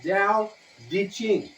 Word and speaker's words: Tao Te Ching: It's pronounced Tao De Ching. It's DAO, one word. TE, second word. Ching, third.